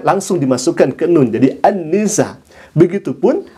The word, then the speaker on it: An-Nisa: Annisa ditulisnya seperti itu. Tapi harusnya dibacanya Annisa karena akan diketawakan ya ikhwah kalau misalkan dia mengatakan surah An-Nisa tidak kemudian dibaca Annisa.